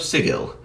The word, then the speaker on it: Sigil: In the setting of Planescape, you start in the city of Sigil. Yes, the Matthew Mercer pronunciation of that word is in fact correct when applied to the Planescape city.